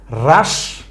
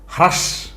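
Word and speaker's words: হ্রাস: আগে কি পেয়েছিলাম রদ রাস রেশা এখন এভাবে পড়বো নাকি আপনি বলবেন হরদ হাস হেরেশা এভাবে পড়া যাইবো না এমনে পড়লে কিন্তু ভুল হয়ে যাইবো কেমন এমনি পড়বেন না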